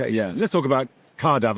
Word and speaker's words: Caerdav: Let's talk about Cardav. I got to pronounce it correctly because it's car is the Welsh for Cardiff and then AV is aviation.